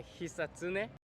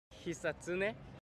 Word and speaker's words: Hisatsune: Like it's a Hisatsune. Hisatone? Hisatsune, yeah. Hisatsune, that was yeah, good? That's good. So, your last name. Like it's a Hisatsune. Your last name. Like it's a Hisatsune. Hisatsune. Hisatsune.